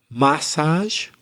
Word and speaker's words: massage: we're talking about today actually you can have it in the first or the second syllable you can say massage as craig just said but i tend to say massage but we're both right yes both are correct